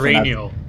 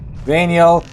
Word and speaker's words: Rainiel: I learned how to pronounce the name before we went live. It's Rainiel. Rainiel.